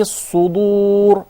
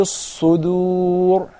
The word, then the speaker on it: الصُّدُورِ: But when you say وَحُصِّلَ مَا فِي الصُّدُورِ, right away say he did not study the صفات, the characteristics, because it's not a dad, it's a dal. So we say وَحُصِّلَ مَا فِي الصُّدُورِ.